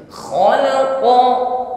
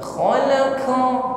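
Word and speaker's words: خلق: dikuatkan agak melemah ya karena qf di sini sifatnya syidah ya tidak tercampur dengan hemes maka dikuatkan tekanan hurufnya khalaqo Jangan diucapkan dengan lemak khalaqo ya Q sedangkan setelahnya ada huruf Kaf yang sebenarnya sifatnya sama-sama syiddah namun Kaf ini setelah syiddah juga ada sifat hamus jadi agak sedikit lemah tidak sekuat tekanan pada huruf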